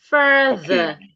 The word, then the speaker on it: further: Further. Further. F. Further. Okay. So could you please pronounce make a sentence with it?